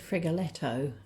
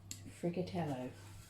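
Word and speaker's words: Friggitello: I think I said Frigoletto at the beginning, but there's nothing like having to take your time and writing it out with a wood-burning pen for you to take note of the pronunciation.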